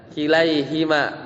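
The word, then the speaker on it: كِلَيْهِمَا: setelahnya itu kan mansub maka jadi kilai ya kilaiima bukan huma ya bacanya kilaiima wailta Oh, jadi kembali seperti yang di atas itu ya.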